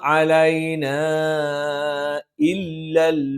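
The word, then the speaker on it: عَلَيْنَا إِلَّا: ഈ ആയത്തിൽ ശ്രദ്ധിക്കേണ്ടത് വമാ അലൈനാ ഇല്ലൽ ബലാഗുൽ മുബീൻ. ഇവിടെ അലൈന ഒരു പദത്തിന്റെ അവസാനത്തിൽ മദ്ദക്ഷരം വന്നു, അടുത്ത പദത്തിന് ആദ്യത്തിൽ ഹംസ് വന്നു. അവിടെ മദ് മുൻഫസിലാണ്, നിർബന്ധമായും നീട്ടേണ്ടതില്ലെങ്കിലും ഏറ്റവും ഉത്തമം നീട്ടി ഓതുന്നത് തന്നെയാണ്.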